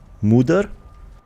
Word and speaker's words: Moder: Right, so once I'm done with this, I'm gonna go fight the Muder, which is how you pronounce it, but you know, we all say Mother.